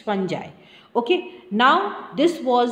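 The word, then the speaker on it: fungi: उन्होंने नाम दे दिया फंजा ठीक है spelling is wrong F यू एन जी आई होना चाहिए इट्स फं जाई ओके नाउ दिस वाज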